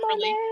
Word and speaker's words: Monet: Is it Monet? How does Oh she pronounce yeah, her name, Hi? Monet. yeah, money Monet. too.